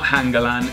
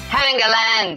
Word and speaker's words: Hangeland: Sorry, I pronounced that wrong. It's not Hangeland, it's Hangeland. Hangeland.